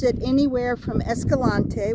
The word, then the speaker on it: Escalante: Anyway, the locals pronounce it anywhere from Escalante, which in my opinion is the correct pronunciation because he was Spanish. But then a lot of people get lazy and they just call it Escalante.